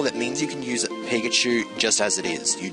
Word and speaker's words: Pikachu: so uh that's my starter here we have mikachu cuz I when I first saw Pokémon I thought that this was the pronunciation in said it was Pikachu and so I'm just like okay might as